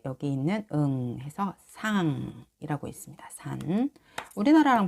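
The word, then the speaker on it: 山: 근데 일본어에서도 이거를 야마라고 읽어요. 야마. 네, 모르시는 분들을 위해서 여기 있는 야자하고 마자예요. 야마라고 읽어요.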